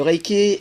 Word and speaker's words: Reiki: Le Reiki est formé de 2 syllabes, Rei et Ki.